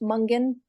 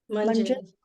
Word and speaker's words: Munjan: you know, most people would be expecting we belong to a tribe called, your last name pronounced Mungan? Munjan. Munjan. Mhm.